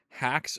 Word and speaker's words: Haxe: That's spelled Haxe. That's okay. Make a game from scratch in Hacks.